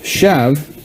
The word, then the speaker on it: shaft: through here for the shev that's going to go in there. And by the way, that's spelled shaft but pronounced shev for some arcane reason I'm not going to get into right now.